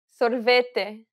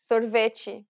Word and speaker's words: sorvete: to the t sounds sorvete sorveci the way you pronounce them varies based on the region you're visiting in brazil don't worry about it